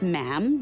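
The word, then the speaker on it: ma'am: and after that is just mam rhymes with jam and it's always a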